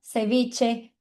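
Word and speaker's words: ceviche: Tem esse som de X, mas no espanhol a gente fala tch. Então a gente diz tica sev. Então toda vez que você vê o c e o h, lembra de t igual de tchau. Sabe quando a gente fala tchau, é igualzinho esse som de t.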